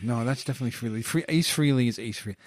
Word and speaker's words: Frehley: Frehley. No, that's definitely Frehley.